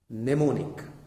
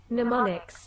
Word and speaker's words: mnemonic: metals and this type of trick is called mnemonic how do we pronounce it well we'll refer google mnemonics mnemonics i'm silent so it is mnemonic we'll